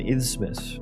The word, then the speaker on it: isthmus: An isthmus, right?